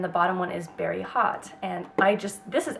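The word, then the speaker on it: haute: fun next one is very hot it's spelled h-a-u-t-e and this is such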